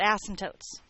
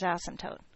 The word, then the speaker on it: asymptote: got to talk about asymptotes. Okay? And I just want to remind you the rules about asymptotes. Number 1, we do not unnecessarily stress the first syllable of the word asymptote.